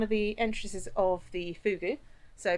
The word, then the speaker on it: fogou: So we are now inside one of the entrances of the fugu. So pronounced even though it's not uh written fugu, it's it's pronounced fu double o double i fugu.